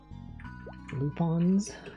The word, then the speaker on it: Lupin: Lupons. Is it Lupons or Lupin? Cuz the anime guys called Lupon, right? Is Lupon the third, despite the fact that it's spelled Lupin.